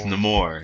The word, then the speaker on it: Namor: It's Namor. It's Like, Namor. like Amor, Namor.